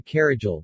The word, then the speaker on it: Caragiale: ion luca carragel romanian pronunciation commonly referred to as i l carrigel